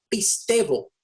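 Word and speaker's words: πιστεύω: La palabra que estamos viendo aquí, esta es la palabra que se pronuncia pistevo. Pistevo, la palabra pistevo en el griego aparece más de 243 en su totalidad, 243 veces.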